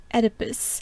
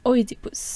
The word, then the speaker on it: Oedipus: For example, I am more comfortable pronouncing Oedipus [English pronounciation] as Oedipus . I think the latter is actually more acurate to the original Greek or Roman way of saying it anyway.